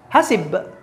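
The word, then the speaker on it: حَسِبَ: Tetapi kalau misal dhamir huwa, bacanya tidak hasbu dong, tetapi hasib. Gitu, hasibna.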